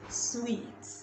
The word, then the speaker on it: suite: we'll talk about this word this word is pronounced sweet sweet so it's pronounced the same way you